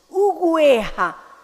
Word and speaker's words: oveja: O en la entrada ganado, donde se indica que el sintagma preposicional ganado de oveja se pronuncia ganado de ugueja.